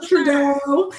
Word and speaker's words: Trudeau: So I commend fine behind Prime Minister Trudeau.